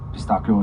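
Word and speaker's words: pistacchio: So, pistachio, pistakio is how you say it in Italian.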